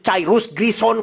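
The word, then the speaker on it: Cyrus Grissom: Cirus C y R U S g e R I S S S O N. Cairus grison kalau dibacanya ya.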